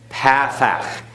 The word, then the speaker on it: pathach: Pathach. It looks like a dash underneath the letters, and it has a sound of a short A, as in the English word bat.